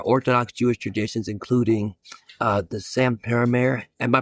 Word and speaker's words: Satmar: There are Orthodox Jewish traditions, including the Satmar. Am I pronouncing that right? Satmar. If so, would you pronounce it for us? Satmar. Satmar.